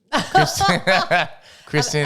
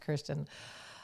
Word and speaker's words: Kirsten: Kristen. And I bet she's going to say no. It's pronounced Kirsten.